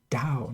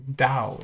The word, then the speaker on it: Tao: Roman characters uh but it's pronounced with a d Dao not with a t they don't T is not really a sound in Chinese so we say Dao instead of top this